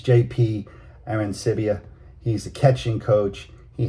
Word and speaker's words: Arancibia: Okay, you've got, I'm going to pronounce his name right. He played in the big leagues, this guy. It's JP Arancibia.